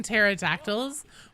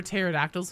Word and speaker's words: pterodactyl: you couldn't hear it whenever pterodactyls would go to the bathroom because the p is silent I'm sorry take it